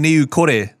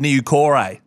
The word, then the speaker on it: Niu Kore: names properly that's good he was saying niu kore instead of new corey that is that's great